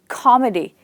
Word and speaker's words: comedy: So the word comedy has two syllables and the stress is on the first syllable.